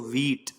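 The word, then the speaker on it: wheat: इसमें एक हा भी होता है बीच में, इसमें बड़ी की मात्रा होती है, बहुत साइलेंटली बोलते हैं इसको व्हीट, ठीक।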